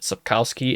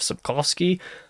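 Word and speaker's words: Sapkowski: In fact, I'm pretty sure I said Subcowski instead of Subkovski.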